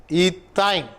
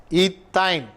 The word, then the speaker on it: ethyne: While you pronounce also, you may be very keen about that. Otherwise, you may go wrong. Ethane, ethene, ethyne. There are difference in the pronouncing. A-N-E, ethane, ethene, ethyne. Okay.